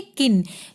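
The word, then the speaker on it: kiln: किसकी जरूरत पड़ती है किन के आई एंड स्मैल साइलेंट है इसको हम कहेंगे किन यह क्या होती है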